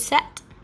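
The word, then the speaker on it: sept: like it should be said differently it's actually pronounced dies so those two numbers are very similar so six is cease seven is set eight is wheat nine is nuff and ten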